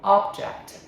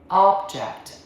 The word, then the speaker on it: object: As a noun saying first syllable object. Object. What is the object? Okay. As a verb to disagree. Second syllable. Object. Object. I object to that idea.